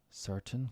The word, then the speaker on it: certain: Button, mountain, certain, curtain, fountain, important. We typically don't pronounce the T in these words. Instead, we cut the sound off by restricting airflow. Okay.